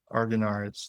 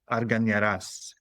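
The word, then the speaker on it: Argañaraz: So there's the Arganaraz? American one. Yeah, Arganaraz. There you go. You just say Arganaraz. That is how you pronounce it. But in its native tongue, it is Arganaraz.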